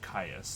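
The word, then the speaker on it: Kyuss: one of them oh i'm it's spawn of caius there we go i have to listen the uh the pronunciation so these are spawn of caius even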